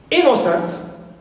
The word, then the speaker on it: innocent: Now, for three-syllable simple adjectives, we have innocent, right, so in here is stressed, first syllable.